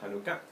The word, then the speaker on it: Hanukkah: Hanukkah, que se puede escribir así, o Hanukkah como se pronuncia en español, Hanukkah.